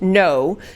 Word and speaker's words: Ngo: and I looked it up and so it's pronounced No so this journalist and Ino was at the